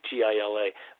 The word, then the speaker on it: Gila: And which is funny, it's called the Gila River with a G, G-I-L-A, but it's pronounced Gila River.